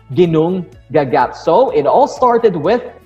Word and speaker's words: Ginnungagap: Again, don't be confused with the spelling and how it is pronounced. The big, dark, vast emptiness is called as Ginnungagap.